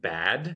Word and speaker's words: Bad: The D automatically becomes a T because it's at the end of the syllable / the end of the word.